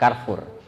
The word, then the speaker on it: Carrefour: di Carrefour Oh iya tulisannya Carrefour bacanya begitu juga ini bukan bahasa Inggriskan Hai di Carrefour Palembang